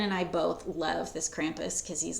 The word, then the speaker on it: Krampus: There were so many Krampuses. Okay, Krampus. I have a friend from Austria, and it's actually Krampus. Something like that. Krampus, as the Americans say. We say Krampus.